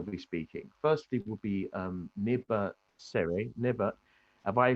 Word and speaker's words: Neba Sere: Firstly will be Neba Sere. Neba, have I pronounced your name correct?